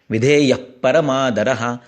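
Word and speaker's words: विधेयः परमादरः: विधेय के आगे विसर्ग है और उसके आगे प है, तो ये उपधमानीय है, धमान करना है, फूंकना है। क्योंकि पप ब म ये जो है ये ओष्ठ्य वर्ण है, तो उसमें फूंकना होता है।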